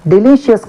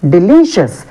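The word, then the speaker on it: delicious: చాలా మంది ఏమంటారు? డెలీషియస్ అని అంటారు. డెలీషియస్ కాదు, డెలీషియస్. So we have to use the stress mark on second syllable from the end on L.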